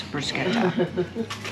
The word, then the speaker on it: bruschetta: The correct pronunciation is bruschetta.